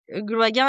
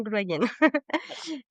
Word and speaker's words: Gloaguen: que comme je disais, c'est un nom de famille finistérien et du coup, et ici dans le Morbihan, ils le prononcent souvent Gloagen.